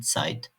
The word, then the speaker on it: Zeit: Sanki T ve S harfleri yan yanaymış gibi "ts" sesi çıkar. Örneğin "Zeit".